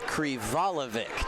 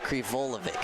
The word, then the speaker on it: Krivalovic: It's Krivalovic, not Krivolovic. I was about a half syllable off.